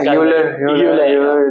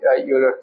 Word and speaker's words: Euler: Because in the Indian market, it might be a little difficult to pronounce. Yeah. Like Euler, but the actual pronunciation is Euler. Euler.